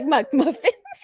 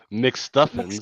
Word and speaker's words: McStuffins: little niece, she used to love this cartoon on Disney Channel, and I will could never pronounce the last name. I always say McMuffins. McStuffins, McStuffins.